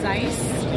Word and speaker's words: Zeiss: It's Zeiss. Zeiss. The lens. The lens guys. Okay. Zeiss. Zeiss is here. That's how you say it.